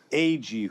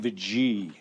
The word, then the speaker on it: Agee: And I'm joined every episode by my co-hosts, Jennifer Holland and Steve Agee, who some people say Steve Agee. Wrong pronunciation.